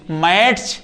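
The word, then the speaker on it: match: ऐसे ही same T के बाद यदि सी एच आ जाए। क्या आ जाए? सीएच तो ये टी साइलेंट हो जाएगा। जैसे हमने लिखा एम ए टी सी एच। क्या पढ़ेंगे? मैच या मैच। मैच।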